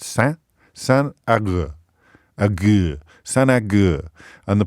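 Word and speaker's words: Saint Agur: It's pronounced San Agur, not, as I started off saying, Saint Augustino. So we've gone from Saint Augustino or something, Auguran or something, to it's San. It's spelt Saint, but pronounced San Agur.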